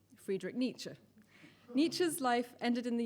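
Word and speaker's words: Nietzsche: have just read out when correctly pronounced sounds like a sneeze friedi nicher n's life ended in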